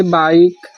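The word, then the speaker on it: bike: जैसे कि वर्ड के अंत में आया ई साइलेंट होता है। जैसे बाइक, बाइक miss बाइक, type miss प्रकार, नेम मिस नाम, साइन मिस चमक, चेंज मिस परिवर्तन।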